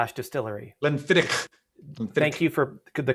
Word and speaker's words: Glenfiddich: Glenfiddich. Thank you for the correct pronunciation.